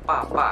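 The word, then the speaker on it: 爸爸: Jadi contohnya misalnya kita mau ngomong baba, tulisannya adalah baba, tapi kita bacanya adalah papa, itu artinya adalah papa.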